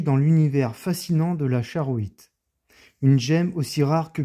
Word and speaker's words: Charoïte: Son nom se prononce charoïe. Charoite.